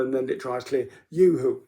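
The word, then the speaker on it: UHU: Yoo-hoo, U-H-U, I think that's how it's pronounced, how it's spelled, Yoo-hoo glue.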